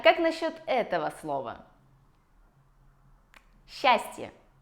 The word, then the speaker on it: счастье: Счастье. С «ч» меняется на «щ». Тоже гораздо проще, чем если бы мы говорили «счастье».